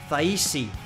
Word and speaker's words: Thaisi: The pronunciation of my name is Thaisi, with a smiley face.